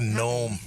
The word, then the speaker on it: gnome: He's like a gnome. He reminds me of a gnome. Ain't that how you pronounce that? You know Nome. That is correct.